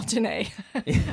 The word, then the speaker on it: Jennae: So my middle name, and Jennae happens to be my middle name, it's spelled Jeanne on my birth certificate, but is pronounced Jennae.